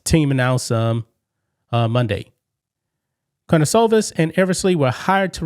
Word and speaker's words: Karnisovas: I don't know how you pronounce his name. Karnisovas, that's the way you pronounce his name, I think.